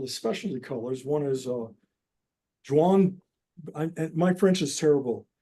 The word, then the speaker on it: Jaune: One is Jaune. My French is terrible. Jaune. Do you know how to pronounce that? Jaune? Anyway. Yeah, John. It's John. Jaune. The yellow.